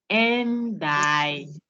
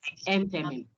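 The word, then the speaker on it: enthymeme: So it's endyming, but it is pronounced entemy.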